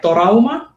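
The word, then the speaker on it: トラウマ: he hears it like torauma, which is the way it is pronounced in Japanese as a long word.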